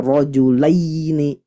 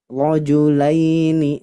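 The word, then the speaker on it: رجلين: lagi bertemu wau sukun Jadi dibacanya lembut Bapak Ibu sekalian tidak boleh dibaca terlalu keras contohnya gimana rjulaini rojulaini ahah itu terlalu keras kofa dia lembut rojulaini nah Seperti yang saya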